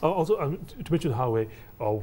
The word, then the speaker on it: Huawei: The other thing I noticed from recent results is that they've struck up quite a close working relationship with Huawei. I think that's how you pronounce the name of that Chinese company.